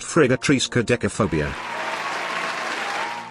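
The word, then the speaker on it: friggatriskaidekaphobia: Actually, Matt, it is pronounced Frigatrisca decaphobia.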